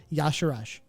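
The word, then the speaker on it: Y'Shaarj: in terms of how they've written out the pronunciation and said it is Yasharaj. It's written Isharj. Yeah, but they don't know how to take a Y apostrophe S and make it into noise. It's Isharj.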